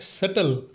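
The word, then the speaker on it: subtle: हमारा तीसरा एग्जाम्पल है सटल, जिसका हिंदी में अर्थ होता है सूक्ष्म या जटिल, और इसमें भी बी साइलेंट होता है।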